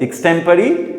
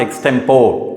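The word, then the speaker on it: extempore: तो इसके लिए यस, एक्सटेम्परी, always get the pronunciation right, it इज नॉट एक्सटेम्पोर, इट इज एक्सटेम्परी, speech delivered without previous preparation.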